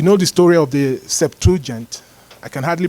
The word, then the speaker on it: Septuagint: So you know the story of the Septuagint. I can hardly pronounce it. How do you pronounce it? Did I pronounce it right? Septuagint.